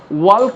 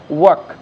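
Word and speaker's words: walk: ওয়াল্ক বলবো না, তাহলে কিন্তু ওই যে যেটা বলেছিলাম হাসির পাত্র হয়ে যাব, ওয়াক, এটা জাস্ট ওয়াক, এল নীরব থাকবে।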